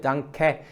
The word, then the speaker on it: Danke: And actually this 'Danke' is not pronounced as 'Dankö'. I have heard this a lot, but it is not 'Dankö'. It is 'Danke'. Actually the end sound is more like hindi 'AI' but short 'Danke'.